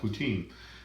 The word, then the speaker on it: poutine: in Canada that's called poutine and there's that so that's what how the English people pronounce it anyway I think the French is like poutine or something like that but what what it is